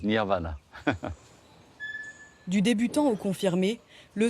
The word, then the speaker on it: nirvana: Samadhi, plus connu en Occident sous le nom de nirvana, prononcé à la française nirvana.